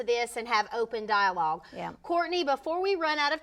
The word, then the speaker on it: Courtenay: my name a little differently pronounced it is pronounced Courtney but it's spelled like ctin so c r